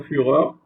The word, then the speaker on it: Führer: Führer, par exemple, Hitler, c'était un Führer, d'accord? Ces mots d'origine allemand est prononcé avec comme la Führer.